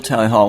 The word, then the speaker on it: Tally Hall: me I was like apparently it's pronounced Tally Hall but I can speak to that that's a very uncommon misconception it's have always been pronounced Tally Hall and seemed seems that we've never encountered that problem before the real Tally Hall